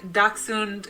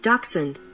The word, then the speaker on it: dachshund: daksun German word cute in the US we tend to say daksun and swallow the end of the word a little bit so if you hear an American pronunciation dachshund compared to a British pronunciation Jackson the hund and the American speech is usually not there I noticed it's interesting